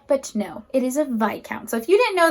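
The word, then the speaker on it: viscount: as lords and ladies next up is a vi count that is how to properly pronounce it for many many years i was saying this count because that's how it's spelled but no it is a vi count so if you didn't know that if this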